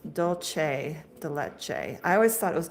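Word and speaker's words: dulce de leche: It's pronounced dolce de leche. I always thought it was doulce de leche.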